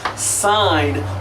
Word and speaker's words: sine: What we really do is pronounce this sine of theta.